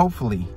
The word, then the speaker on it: hopefully: Hopefully, hopefully. Tem o P, né, de P-fully, mas você não vai pronunciar ele completamente. Hopefully. Você meio que corta ele, né?